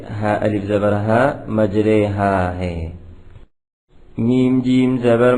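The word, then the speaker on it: مجريها: ہا، مج رے ہا۔ اس کا تلفظ میم جیم زبر مج، را یا زیر ری، مجری، ہا الف زبر ہا، مجری ہا نہیں ہے، بلکہ میم جیم زبر مج، را یا زیر رے مجرے ہا الف زبر ہا مجرے ہا ہے.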